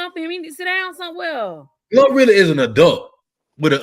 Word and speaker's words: GloRilla: Glorilla. Glorilla.